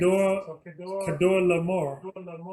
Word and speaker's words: Chedorlaomer: Kedor Laomer. You read it pronounced with a K in the KJV or in your scriptures,